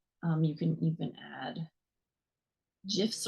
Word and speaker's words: GIF: you can even add gifs or gifts however however you pronounce it students always make fun of me when I say GIF even though that's the original Creator pronunciation awesome Project based learning